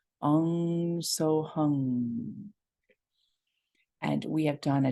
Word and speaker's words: Hung: will though you might hear it as three syllables h-u-n-g so hung what's powerful about a lot of